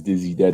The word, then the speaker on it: Diiziided: I'm a part of I own my record label, which is Dizzy Dead Records. That is spelled DIIZIIDED Records.